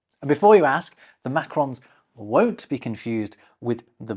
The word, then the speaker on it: Macron: on consonants and the Macrons on vowels. See, I'm not stupid. So please give a warm welcome to Macron. Excusez-moi. No, still not you. Although don't some Americans call you Macron?